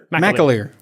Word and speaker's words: McAleer: name or is it what's his last name mccallier what mcaleer we're going to talk to phalem mcaleer yes